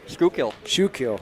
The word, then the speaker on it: Schuylkill: Scott Buffington from I never pronounce that name right. Schuylkill. Schuylkill.